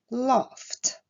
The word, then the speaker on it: laughed: Dernier verbe, le verbe laugh se terminant par un son sourd, la terminaison ed ici se prononcera t, laughed.